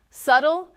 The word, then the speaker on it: subtle: Subtle has a silent b.